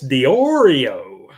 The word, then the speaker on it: DiOrio: And he puts in again that it's pronounced DiOrio.